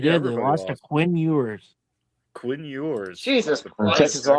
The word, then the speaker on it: Ewers: Quinn Ewers. Quinn Ewers. Jesus Texas Christ. Longhorns. That rhymes with manure, doesn't it?